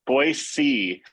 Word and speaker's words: Boise: Boise. So you got to say it like see, like you see something. Boise. That's how you would say it.